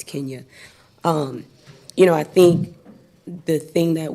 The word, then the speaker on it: Kenya: Just for everybody's pronunciation, it's Kenya.